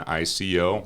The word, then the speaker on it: ICO: do what's called an ico which rhymes with ipo right and that's a public offering ico is an initial coin